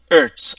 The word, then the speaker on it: Hertz: this time we're using Earths no Earths uh silent h Earths one Earth is